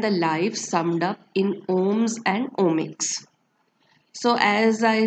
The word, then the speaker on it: Om: So the word om, pronounced as aum, is an ancient Sanskrit intonation made up of three Sanskrit letters A, U and Ma, which when combined together makes the sound Aum or Om, which signifies fullness, as